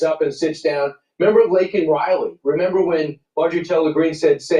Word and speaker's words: Laken Riley: Remember Laken Riley? Remember when Marjorie Taylor Greene said, say her name? He said Laken Riley, and he said Lincoln Riley.